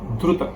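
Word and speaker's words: द्रुत: Dhrita vilam. Not Dhrita. Dhruta.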